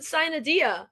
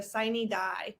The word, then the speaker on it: sine die: I thought you said Sinadia. No, it's sine. They pronounce it in Georgia sine die.